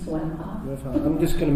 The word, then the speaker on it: Wimhoff: Wimhoff. It's Wimhoff. I'm just going to mispronounce everybody's okay.